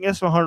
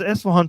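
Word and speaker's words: Isfahan: you uh American YouTubers, they're all pronouncing Esan wrong. But all of a sudden Trump comes and he pronounces Eswhan perfectly.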